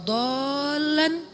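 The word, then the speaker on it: ضَالًّا: Alam yajidaka yatiman fa'awa wa wajadaka dhallan dhal. Kenapa dhal itu kayak panjang bacanya? Karena sesat jauh gitu kan ya.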